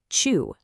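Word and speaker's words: 中: Now, checking the readings from our source, the anomi is pronounced chu. Go ahead and actually say that out loud wherever you are. Chu and the kunomi is naka.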